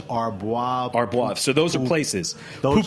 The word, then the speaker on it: Arbois: How do you pronounce Arbois? Arbois.